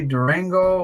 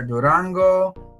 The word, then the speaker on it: Durango: a variety of mints this one happens to be Durango or Durango depending on your uh Spanish pronunciation and there you go